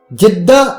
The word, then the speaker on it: جدہ: جدہ میں دفن کیا۔ جدہ وہ تلفظ ہے جو مقامی لوگ استعمال کرتے ہیں۔ مشہور بربر سیاح